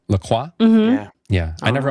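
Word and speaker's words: LaCroix: czer like flavored seter it's like the lacroy is that how you pronounce it laqua mm yeah yeah I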